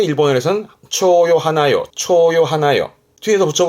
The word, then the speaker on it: 蝶: 얘를 혼자 두면 발음은 초라 그래.